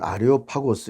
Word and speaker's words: 아레오파고스: 이 아레오빠고는 지금은 아레오파고스 이렇게 우리가 발음들을 하는데요.